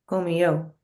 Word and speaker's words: comió: To say she ate or he ate, Comió. comió, Yeah. comió. And we punch the O more, but it is an I-O, comió, comió, right?